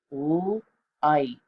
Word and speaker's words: light: And then another word is the word light, light. You do hear a T at the end, but we need the G and the H to go with that I for the long I sound.